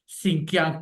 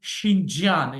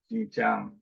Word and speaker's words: Xinjiang: We can say in English Xinjiang province in Pakistan, but in China, as you told you that I have done my PhD from China, so they say Xinjiang in Chinese pronunciation. Xinjiang.